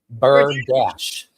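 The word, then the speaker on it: berdache: It's B E R D A C H E. Bird dash.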